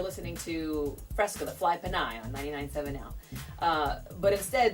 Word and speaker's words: Pinay: But instead, they would say Freska, the Pinay, because they'd have to break it up phonetically, because they would say Pinay. And I'd be like, ugh, my ears would bleed, it's not Pinay.